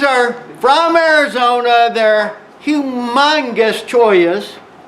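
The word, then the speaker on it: cholla: They're humongous choyas. How do you spell that?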